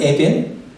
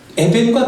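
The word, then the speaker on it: אבן: 돌은 에벤, 아들은 벤이에요. 그렇다면 발음이 비슷하죠. 에벤과 벤, 돌과 이 아들은 히브리 말로는 발음이 비슷해요.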